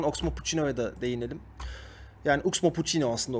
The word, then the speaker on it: Oxmo Puccino: Yani Oxmo Puccino aslında okunuşu.